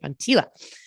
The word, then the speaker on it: Von Teela: Said it right, Von Teela.